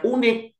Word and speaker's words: unique: Ini bacanya bukan unik, tapi unik.